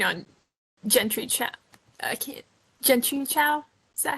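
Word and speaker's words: Jentry Chau: Gentry Chow? Is that how I pronounce that? Right? Yep, Genchi Chow versus the Underworld.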